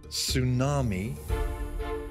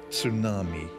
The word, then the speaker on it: tsunami: very very good spell the word has two pronunciations tsunami or tsunami tsunami t s u